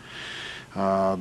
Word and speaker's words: Yu: for the record my name is Dr U that's spelled Yu and I'm a division Chief uh